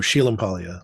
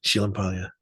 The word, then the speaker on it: Sciglimpaglia: So, Sheila Palia, like if you go to Italy, Sheila, that's how they say it because you you know the S C is just she sound and you don't say G's.